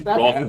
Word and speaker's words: wrath: No, just to be a dick, I'm tempted to say rat. It's not. It's Wrath. It's Wrath and you know it, Ian!